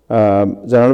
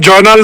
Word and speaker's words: জয়নুল: সো ওনার গাড়ির জয়নুল ভাই, আপনি কি শুনতে পাচ্ছেন? নামটা জয়নাল না, জয়নুল ।